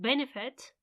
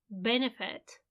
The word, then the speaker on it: benefit: last syllable as in benefit benefit it's on the first one you don't need to